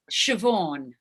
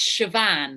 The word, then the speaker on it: Siobhan: as much as possible so it's it's siobhan although in ireland it's chevan because it's got like an accent on the end siobhan siobhan but i'm not going to make you say my name with an irish accent but technically that's how it's pronounced i just found it